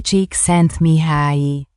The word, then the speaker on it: Csikszentmihalyi: Vou deixar o Google pronunciar aí, porque olha, é quase impronunciável esse nome. Mihaly Csikszentmihalyi.